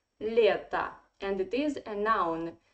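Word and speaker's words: лето: or is in unstressed position it should be pronounced like a that's why we say letta and it is a noun so in english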